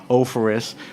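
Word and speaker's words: Offerus: Thomas, how do I pronounce it? Ophoris? You got it. Ophoris, which is one of their Saint Josephs in a great kind of price point, right?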